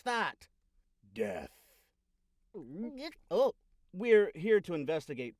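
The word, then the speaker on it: Dheathe: Now, how do you pronounce that? Death.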